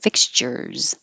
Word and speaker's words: fixtures: that last at last s looks like an s but sounds like a z because it comes after the r fixtures ricochet ricochet exquisitely you